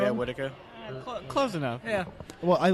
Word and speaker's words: Whitaker: Is it pronounced Whitaker? Am I getting that wrong? Yeah, Whitaker.